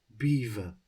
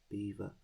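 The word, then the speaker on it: Belvoir: your name despite its spelling beaver is correctly pronounced beaver so you spelt belvar b-e-l-v-o-i-r but it's apparently pronounced beaver right let's have a look at their history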